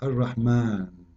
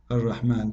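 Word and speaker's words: الرحمن: alif very short, but you hear me pronouncing the alif. Ar-Rahman. Ar-Rahman. This is not a fatha only, it is a letter.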